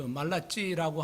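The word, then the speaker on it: Malachi: 말라기라고 하는 뭐 영어로는 그 말라찌라고 하는 그런 어 발음으로 이야기를 합니다만은이 말라기라고 하는이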